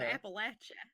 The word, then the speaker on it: Appalachia: wrong paul steve will throw an apple at it that's how you gotta remember it that's how you remember if you say appalachia i'll throw an appalachia and the reason people